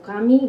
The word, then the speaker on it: Camus: Y decía Camus, ¿no? O Cami, bien pronunciado, que la enfermedad es un remedio contra la muerte, ¿no?